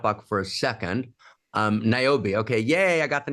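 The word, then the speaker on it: Niobe: at the chat box for a second um naobi okay yay I got the name right okay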